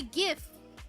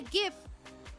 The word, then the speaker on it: GIF: How do you pronounce GIF? It's GIF. I'm sorry. I'm so sorry. Okay. I am I have been I have been converted not willingly but I literally used to say GIF.